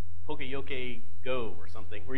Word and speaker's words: poka yoke: I went to the talk you say it poka yoke and so I went in the whole talk